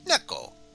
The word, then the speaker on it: 猫: 猫 Ah, and just as we were talking about dogs, there's also cats that say nya, which is neko.